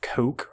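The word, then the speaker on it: Koch: on June 11th uh I think it's pronounced Coke media will have a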